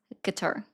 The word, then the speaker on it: Qatar: Is it going to offend you if I say Qatar? Isn't it Qatar? I actually watched a video on this today that it is Qatar.